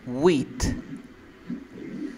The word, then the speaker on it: wheat: Wheat. ¿Verdadero o falso? Wheat. Yeah. Ahora la pronunciación. Repite conmigo. Wheat. Wheat. Yeah, pero tienes que botar aire. Mira, wheat. Wheat. Porque si tú dices wheat con la D.